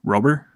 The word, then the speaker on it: Rober: And I know a lot of these people that, make videos like into projects, like, I'm going to say the guy's name wrong. Mark Rober. Mm-hmm. Is it Rober? Yeah.